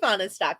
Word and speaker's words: Fahnestock: now you do now you know how to pronounce my last name correctly i can say fauna stock can you general how about those cowboys